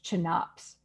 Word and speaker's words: CHNOPS: for life on Earth, which is poorly pronounced as chnops, which is terrible.